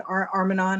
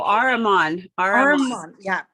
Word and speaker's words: Ahriman: It had Lucifer, and then it had Armanon. I'm not saying it correctly. Oh, Ahriman.